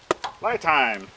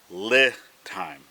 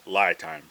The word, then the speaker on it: LiTime: battery so it is Li time Li time is the pronunciation not not lie time so my bad now